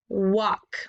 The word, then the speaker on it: walk: Remember that AL combination is making that ah sound. The L is silent, but he has to tag along with the A because this is the special part of the word. So that AL is making the ah sound.